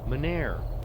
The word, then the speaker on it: Mynheer: How's it actually pronounced? Meneer.